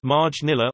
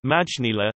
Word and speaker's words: Maynilà: Manila, Filipino, May-nilad, pronounced Marj-nila or Majnila, officially the city of Manila, Filipino, Lungsoding May-nilad, Lusod ng Marj-nila, is the capital of the Philippines.